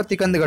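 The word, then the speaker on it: टीकमगढ़: तिकंदगढ़ में इसका जो सही उच्चारण होगा तिकंदगढ़ होगा।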